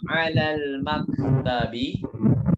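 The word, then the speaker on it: عَلَى الْمَكْتَبِ: Mada alal maktabi. Mada alal maktabi. Sudah belum? Jadi ala ketemu lam lagi. Lam sukun ya. Jadi bacanya bukan ala al. Jangan. Mada alal.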